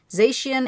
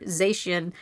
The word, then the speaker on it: Zacian: So cyan for Zacian and magenta for Zamazenta.